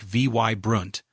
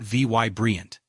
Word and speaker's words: vibrant: Say vibrant like vy brunt, not vy brilliant.